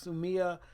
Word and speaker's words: Sumi: spelled s um I sue me but it's pronounced soo Miah that they'll know what you're talking about other